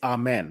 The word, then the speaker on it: Amen: I was not entirely knowledgeable about the correct pronunciation there as well so to bail you out so one more time it's it's Amen right amen amen amen amen so so you